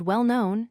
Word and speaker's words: well-known: Notice how the stress falls on the quality word that comes first.